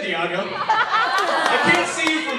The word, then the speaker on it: Diego: People see my name, D-I-E-G-O, like San Diego. You all heard of San Diego, right? Yes. This is how my math teacher pronounced it first day of school. Is Diago here?